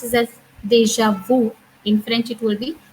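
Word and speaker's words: déjà vu: Deja vu. That means, well, in English they pronounce it as deja vu.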